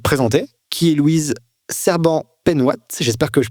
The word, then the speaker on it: Penhoat: tu peux te présenter qui est Louise cbant penouat j'espère que je prononce bien et quel âge as-tu qu'est-ce que